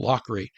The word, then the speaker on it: Lochry: Nearby Lockery Creek derives its name from Colonel Lockery, and that's spelled Lochry.